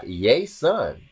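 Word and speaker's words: Ἰησοῦν: It starts with the yay sound with the S in the middle. So it's like Iēsoun.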